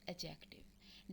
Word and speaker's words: adjective: जाते हैं एडजेक्टिव जी इसमें दी को साइलेंट कुछ लोग एडजेक्टिव बोलते हैं डेट इस note right D right pronunciation इस एडजेक्टिव दी इस silent एडजेक्टिव्स आर D world